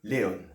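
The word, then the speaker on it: León: habitants de Castilla ilon enfin pardon il lon accent tonique sur le haut de Léon ça va être Castellano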